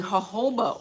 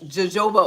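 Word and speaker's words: jojoba: Um, we looked into the Hoba oil. Um, the word looks like jajoba oil, I know, but we pronounce it hoba oil.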